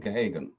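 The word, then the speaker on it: Geoghegan: It's called, it looks like Gehagen, it's pronounced, it's an Irish name, Gehagen.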